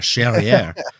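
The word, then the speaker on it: Charrière: Charriere. Rhymes with derriere.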